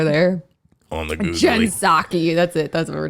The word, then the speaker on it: Psaki: Psaki, she's an idiot.